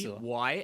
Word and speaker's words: Scylla: So Scylla. That's how you pronounce it, Scylla.